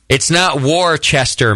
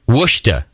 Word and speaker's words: Worcester: Sent from my iPhone writes in, hey, Justin, it's not Worcester, Mass. It's frickin' Worcester.